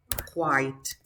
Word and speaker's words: quite: a difficult word too we say quite listen quite kilo white quiet quiet so you are yellow you